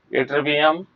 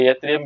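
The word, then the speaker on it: yttrium: एट्रिबियम या यत्रियम भी बोलते हैं इसको, एट्रिबियम भी बोलते हैं, यत्रियम भी बोलते हैं।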